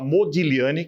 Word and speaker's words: Modigliani: E acabou nascendo este livro aqui, que é o Modigliani, que se escreve Modigliani, mas se fala Modigliani, que é o nome de um artista italiano.